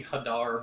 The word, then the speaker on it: Hadar: I've always viewed it as Hadar because my brain immediately goes like Thundercats. I mean that is what that those that collection of letters is typically pronounced hadar but doesn't there's no rules.